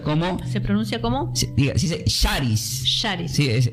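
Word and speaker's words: χάρις: la palabra gracia, diga, se pronuncia como se pronuncia como diga, se dice Sharis. Sharis, sí, es s, perdón, c de casa. H a con acento. R i s. Sharis. Sharis.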